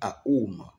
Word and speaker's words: Aum: Wom veut dire A-U-M. Wom. Je ne prononce pas O-M, non. Ça veut dire ce que tout le monde de mon côté, je dis Aoum.